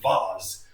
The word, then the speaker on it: vase: Now, when I rotate this, I'm going to get this like vase shape, or some people pronounce it vase.